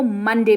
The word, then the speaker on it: Monday: मंडे, ठीक है, MON लिखा है लेकिन इसको मंडे पढ़ते हैं।